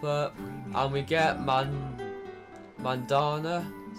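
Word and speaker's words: Mandanda: good to pop up and we get man Mandana is how you say his name wow really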